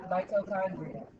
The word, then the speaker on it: mitochondria: The ch is pronounced like a K. Tell us what that is. Quiet. Mito thumbs up. Mitochondria.